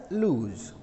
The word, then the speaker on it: lose: idea children you see l o s e this is the verb form okay and we pronounce that this word as loose okay loose so she